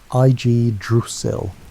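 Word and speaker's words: Yggdrasil: What grew from that seed was Idrasil, pronounced Ig Dusil, the world tree.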